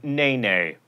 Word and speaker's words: NeNe: That should not be confused with the cast member of The Real Housewives of Atlanta who pronounces her name Nene, Meredith tells me.